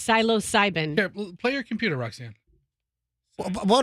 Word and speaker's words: psilocybin: I say you said something different but it's psilocybin play your computer Roxanne what did I say